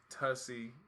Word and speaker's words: Tasi: I mean, just listen to the name Tasi.